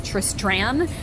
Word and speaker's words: Tristran: The character's name is Tristran, and we pronounce it Tristan because Tristran is stupid and too hard to say.